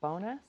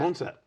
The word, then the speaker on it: boneset: Is it bonus? How do I pronounce that? Bone set. Bone set.